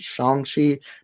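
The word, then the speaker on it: Shang-Chi: think it's shangchi because i believe simulu put out a tweet once saying that it is actually pronounced shanxi but to be fair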